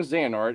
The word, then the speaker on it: Xehanort: bit of them, and recently you voiced young Xehanort in the latest Kingdom Hearts game. That's how you pronounce it.